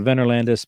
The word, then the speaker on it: Venorlandus: 77 broadway market e8 again i called vendor landis because uh the only similar word i see to that in our language is tenor and uh they're spelled the same way except for the first letter so i'm going with tenor some may say wiener